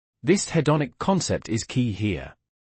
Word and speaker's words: hedonic: Can you say the hedonic again for clarity? Certainly. It's pronounced hedonic. Thank you. Hedonic. Got it. Excellent emphasis on the second syllable.